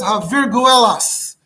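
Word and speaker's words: virgüelas: it's a foreign word, but the pronunciation is virguelas. Virguelas is an archaic way of saying, in Spanish, the word for variola, for smallpox, is viruelas, and you look it up, you'll find that Amol was virguelas.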